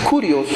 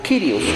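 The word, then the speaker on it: κύριος: Esa palabra Señor en el griego es Curios o Kirios, lo pronuncian diferente, Curios.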